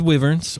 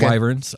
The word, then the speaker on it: wyverns: So let's start with Wyverns or Wyverns. It can be pronounced either way, and I kind of go back and forth.